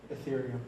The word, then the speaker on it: Ethereum: the list that you showed, is it, how do you pronounce that? Ethereum.